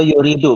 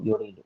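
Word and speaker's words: يريد: Itu yuridu bukan yarudu, yuridu.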